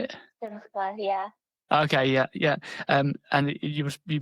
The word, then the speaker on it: Simcha: Simcha, yeah.